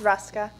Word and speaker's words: Ruska: Representative Ruska, did I pronounce that right? It's Ruska. Ruska, thank you.